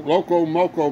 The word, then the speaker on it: Loco Moco: just call it Moco Loco Moco cuz Moco rhymes with Loco so there wasn't much